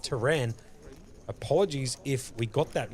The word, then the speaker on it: Tehran: Okay, pronounced Tehran. Okay, so we're going to go with option number 2, pronounced Tehran.